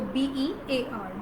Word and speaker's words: bare: Okay, so B-E-A-R, bear.